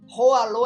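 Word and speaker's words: Hỏa Lò: Lembra que as pronúncias não são assim? Eu tô falando exatamente como se escreve. Ralô é H o A L O.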